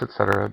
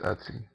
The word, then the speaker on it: etc: in the Etsy folder yes I know it's Etc but just the lazy way to say it is Etsy it's kind of fun